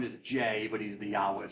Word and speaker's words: Yahweh: Scholars were Germans and J is pronounced as a y in German so they spell Yahweh with a J so yah okay so he's known as Jay but he's the Yahweh right so always Yahweh